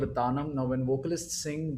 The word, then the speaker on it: Tanam: That is called a Tanam. Now, when vocalists sing, they sing using the syllables ta nam.